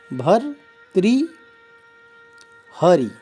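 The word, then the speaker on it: भर्तृहरि: गलत है तो चाहिए वृत हरि नहीं कहेंगे तो भर त्री भर त्रि हरि भर त्रि हरि भर्त्री हरि इस प्रकार इसका उच्चारण करेंगे एक शब्द है महत्व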